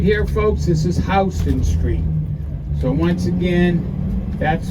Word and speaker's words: Houston Street: if you look right here folks this is Houston Street so once again that's how it's pronounced it's not Houston Houston is in Texas but it's named after